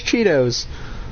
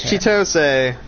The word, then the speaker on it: Chitose: His name is Chitose, but I call him Cheetos because in English the way that it's spelt is like Cheetos. But because it's Japanese, it's supposed to be Chitose.